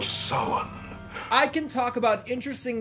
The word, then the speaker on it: Samhain: one i like how dr loomis and halloween 2 invented his own pronunciation of the name sowen samhain but here at halloween 3 cochrane absolutely nails it the festival of summon i can talk about